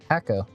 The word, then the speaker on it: Hakko: Hakko.